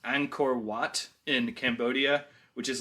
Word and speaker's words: Angkor Wat: I think it's pronounced Angkor Wat in Cambodia, which is like one of the most famous religious buildings in the world.